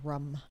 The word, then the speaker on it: Rum: The last name is pronounced Rum. Charles Rum.